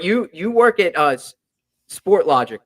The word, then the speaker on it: Sportlogiq: those yeah but you you work at UH sport logic right that's how you that's how you pronounce it what a cool name by the